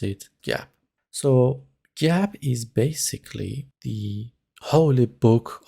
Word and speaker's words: GAAP: is gaap it's spelled as gaap but we pronounce it gaap so gab is basically the holy book of accountants every